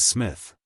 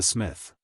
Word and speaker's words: Psmith: decided to adopt the Smith the P I should add for your guidance is silent as in thyis psychic and Tagan you follow me why